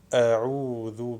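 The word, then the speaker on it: أعوذ: Et en prononçant l'ain, il faut éviter le son ou, ou, a'ou, a'ou, a'oudhu, a'oudhu. La lettre de prolongation de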